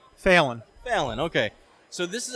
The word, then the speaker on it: Felton: Felton.